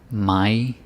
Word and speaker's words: mig: got some I's, but the focus here is more on some soft D's or hard D's or silent G's. That's also pronunciation. It's not all about vowels. So, mig, dig, sig, and with short pronouns.